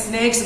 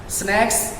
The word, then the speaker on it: snacks: করছে এরকম, বলছে এখানে স্নেকস বলছে। তার বলা উচিত ছিল would you please give me some snacks? SNAKS, snacks, SNACKS, snacks। এটা হলো হালকা নাস্তা। স্ন্যাক্স, স্নেকস, স্ন্যাক্স, স্নেকস, কত পার্থক্য।